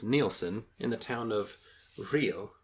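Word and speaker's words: Rhyl: in the town of real I believe it's pronounced but what do I know in North Wales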